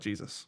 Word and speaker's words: GSIS: Um, it's spelled GSIS to be fair, but we all call it Jesus.